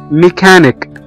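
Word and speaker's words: mechanic: بنقول تش تش تش، لكن لو هم في وسط الكلام او في اخر الكلام بننطقهم كي او حرف الكاف، زي كلمة ميكانيك ميكانيك ميكانيك ميكانيك او ميكانيكي.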